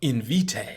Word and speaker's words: Invitae: They gave it such a complicated name, they got to teach you how to pronounce it right away. Invitae.